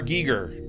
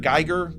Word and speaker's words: Giger: designed by uh HR Giger Giger Gyer Giger gger I've heard it pronounced both ways I and I don't